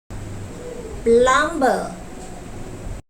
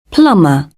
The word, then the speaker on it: plumber: The speaker voiced the consonant b, which is located in the middle of the word. According to the received pronunciation, the consonant b should be silent and not voiced. Plumber.